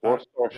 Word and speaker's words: Worcestershire: W-O-R. War. Store as in store a cup of tea. I don't Shire. need it. Worcestershire.